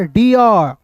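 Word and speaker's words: dear: अब देखिए यहां पे आप प्रोनाउंसिएशन करते हैं, प्रोनाउंसिएशन करते हैं, उच्चारण करते हैं तो वहां पे डियर पियर सीआर नहीं करते हैं। र नहीं आता है।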